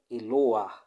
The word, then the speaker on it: Eloah: Eloah, Elor.